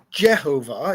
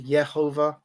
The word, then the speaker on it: Jehovah: the J um we use that J sound in Modern English so I don't um I don't have a problem with with that if you want to utilize the the Y sound yehovah perfectly okay with that as well I don't